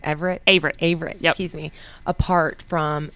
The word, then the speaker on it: Averett: Averett, yep.